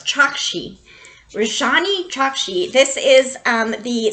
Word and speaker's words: Chokshi: See, I said it wrong. It's Chokshi.